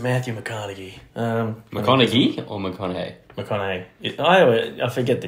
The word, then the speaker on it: McConaughey: McConaughey. I forget the G silent. I don't know American names, bro. I forget the G is silent.